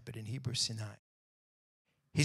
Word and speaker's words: Sinai: to moshe on mount sinai or some people pronounce it sinai but in hebrew sinai he said tell the people of israel when